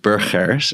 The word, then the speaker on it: Burgers: his name is Eric Burgers and he had been working for Belcon for many years and Burgers is a Dutch last name. It's actually pronounced Buris and he had lived